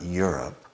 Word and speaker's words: Europe: So, similar to Europe being my up, his up, her up, Europe, well, think of an O.